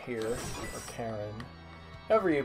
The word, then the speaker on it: Charon: a little suspicious of Charon here, or Charon, however you pronounce him in the original language. It's Greek, so probably a hard K.